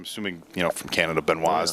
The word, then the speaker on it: Benoit: you know from Canada Benoit's the correct pronunciation not Binoy she looks fantastic she